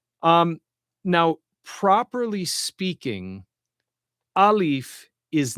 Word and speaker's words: alif: Okay, alif, which sounds like alf, right?